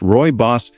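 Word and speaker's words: rooibos: Originating from South Africa, ruibos, pronounced roy boss, is made from the leaves of the aspalathus linearis shrub.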